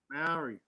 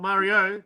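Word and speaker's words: Māori: Maori. Yeah, not Mario. Just take the O off at the end.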